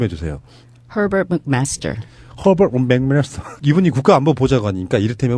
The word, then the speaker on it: Herbert McMaster: 미국 정가에 예를 들면은 지금 허버트 맥메스터 이 발음 좀 해주세요. Herbert McMaster.